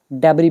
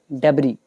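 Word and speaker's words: debris: इसको बोलते हैं रबल डेबरी भी बोलते बोल सकते हो। मैं यहां पे लिख देता हूं। डी ई बी आर आई एस डेबरी इसमें एस वगैरह साइलेंट है। डेबरी बोलते हैं।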